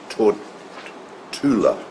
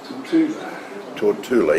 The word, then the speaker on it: Tortola: And these Paul Westerman says it's Tortula. Tortula, even though it's spelled Tortola. Tortula.